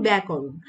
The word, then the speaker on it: ব্যাকরণ: এরপর দেখো যে জফলা যুক্ত ব্যঞ্জনের সঙ্গে আকার বা আ ধ্বনির উচ্চারণ প্রায় ক্ষেত্রে কি হয়? অ্যা হয়। যেমন দেখো যে এখানে যেহেতু জফলা যুক্ত আছে এবং আকারও আছে, তো উচ্চারণ কিন্তু খ্যাতি, ব্যাপার, ত্যাগ এবং ব্যাকরণ।